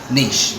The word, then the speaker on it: Niš: No, the S with the accent on is like a sh. So the city in Serbia, Niš, is the same.